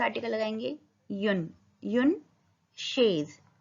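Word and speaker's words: chaise: युन, युन शेज। च सी एच का sound होता है श, श ए स, शेज, युन शेज।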